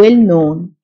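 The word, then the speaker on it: known: فولنتير نفايه ويست ويست مشهور و نون الكي سيلنت و نون فن ارت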